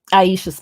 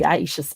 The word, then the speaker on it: Iseashia: about island is because I often use that word to help people pronounce my name. And because they'll be like, well, why the S there? And I'll go, why is the S in island? We don't say island.